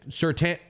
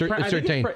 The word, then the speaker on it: Surtain: Surtain. I think It's Surtain. It's Surtain the spelled- second. It's spelled Surtain, but I think it's pronounced Surtain.